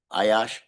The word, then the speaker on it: Ayash: Is that, am I pronouncing that correctly? Ayash? Yeah.